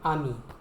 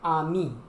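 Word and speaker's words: amie: A-M-I, ami. And for a girl or a lady, you will say ami. A-M-I-E, ami. The same pronunciation, but you will add an E at the end.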